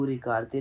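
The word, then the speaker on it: regardent: for the plural is we do not pronounce that. So we just say the first part.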